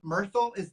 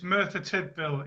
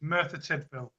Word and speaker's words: Merthyr Tydfil: Is your town's name Myrtle? Did I say that right? It's Merthyr Tydfil in Wales. I'm actually from Manchester though, but it's Merthyr Tydfil, Wales.